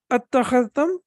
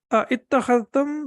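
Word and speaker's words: أتخذتم: So we can see over here, again, attakhadhtum is again the past tense. So it was basically ittakhadhtum, but again, we have to connect it and we have to recite it like this.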